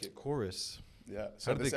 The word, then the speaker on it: Kouris: So this Chorus is the segment, sponsor. this episode is sponsored by Chorus. Chorus. Check Look at them this out. shirt. Not The cooties? It's pronounced chorus, like singing.